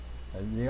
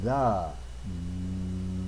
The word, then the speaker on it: the: you what I mean the article the the I want you to see how I made that th sound it's the tongue on the teeth on the tongue okay and you make